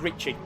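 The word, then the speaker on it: Ricsi: For example, in Budapest, Ricci is spelled R-I-S-C-I. It's pronounced Ricci, short for Richard or Ricard.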